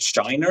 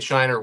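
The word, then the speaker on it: Scheiner: was remastered by longtime to collaborator El Elliot Shiner, I think you pronounce his name. Shiner.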